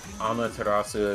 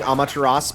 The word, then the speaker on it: Amaterasu: Well, this is the first time I learned you don't pronounce the U, because yeah, I always just put it in there, right? But it's like, nope, you don't use that.